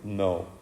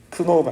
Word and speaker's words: know: 여기서 K는 묵음입니다. 발음하고 있지 않아요. 크노라고 하지 않습니다. 그렇죠? 중학교 1학년 때 주로 실수했던 크노가 아니라 knowing.